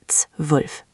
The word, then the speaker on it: zwölf: 12, meaning pronounced zwölf. Good try, Devendra, but let's refine that ts sound again. It's zwölf, not zwölf. The Z is like ts, and then W is like V, so zwölf.